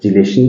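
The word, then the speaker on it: chelation: और इसको बोलते हैं, इसको चिलेशन भी प्रोनाउंस किया जाता है और किलेशन भी प्रोनाउंस किया जाता है।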